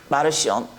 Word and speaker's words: 마르시온: 마르시온. 근동 그쪽의 발음으로 마르치온이라고도 하지만, 마르시온이라는 이 사람은 아버지가 유대 제사장이었어요.